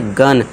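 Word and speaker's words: gun: के बाद यू है जी यू एन इसे क्या पढ़ेंगे? गन। इसे जन नहीं पढ़ेंगे। ग उच्चारण देंगे यानी ग साउंड।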